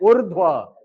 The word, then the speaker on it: ऊर्ध्व: क्यों? उच्चारण क्या है? ऊर्ध्व। र पहले आ रहा है, ध बाद में आ रहा है, तो ये ऐसा इसका वर्ण विन्यास होगा।